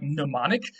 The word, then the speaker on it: mnemonic: get from greek like mnemonic of course today in english we don't like pronouncing m and n at the beginning of a word um and so we just make the m silent but in greek they